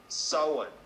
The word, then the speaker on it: Samhain: Halloween is the name for the eve of Samhain, pronounced Samhain, a celebration marking the beginning of winter as